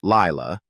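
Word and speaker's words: Laila: In December 2015, Bullock revealed to People magazine that she had adopted a second child, a daughter named Layla, pronounced Lila, then 3 years old.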